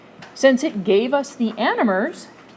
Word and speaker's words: anomers: calling them diastereomeric hayworth forms they call them anomers animers and it is spelled a n o m e r s